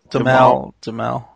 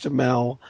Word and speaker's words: Duhamel: Damal. whatever. Josh Duhamel, Duhamel the smell.